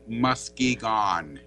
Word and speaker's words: Muskegon: You'll have to spell it again. Muskegon. O-N. Okay, Muskegon, Michigan. Okay. As the natives said, Muskegon.